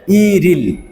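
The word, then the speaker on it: 일일: মিলিয়ে পড়ি সরবর্ণের সাথে তাহলে উচ্চারণ হবে ইরিল ই রিল ইরিল অর্থাৎ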